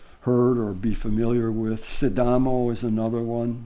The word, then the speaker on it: Sidamo: Sidamo is another one. Sometimes it's pronounced Sidama.